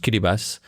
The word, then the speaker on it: Kiribati: belong to the Republic of Kiribati, pronounced Kiribati, in the South Pacific.